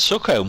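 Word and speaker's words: Sookholme: home um there was a small village called succumb we'll leave it there with you folks if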